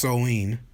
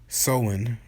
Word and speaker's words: Samhain: ancient Celtic festival of Samhain pronounced sowon sowon okay the Celts who